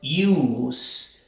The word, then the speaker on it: use: En esta palabra decimos use. La letra E no suena, ¿ok?